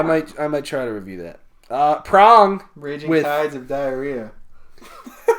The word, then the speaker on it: Prong: That's the fucking Richard Merle TP get together for the Prong. first time. Dong. Okay. Prong. Or Dong. prong. Wait. Prong. Dong. With a G? Prong. Prong. Okay. Dong. Yeah, rhymes with dong.